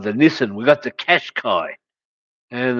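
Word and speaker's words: Qashqai: niss we got the cash Kai and and it's spelled with q's but not with a u so it's just cash Kai and I don't even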